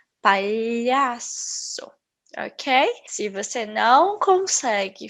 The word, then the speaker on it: palhaço: representado por este símbolo ele não existe também no inglês então o mais parecido seriam as tuas palavras milho brilhante certo por exemplo eu vou falar E aí eu escolha trabalho talhação certo às vezes ele parece o som de L I então eu posso falar um pouco como alho escolhia trabalho palhaço Ok se você não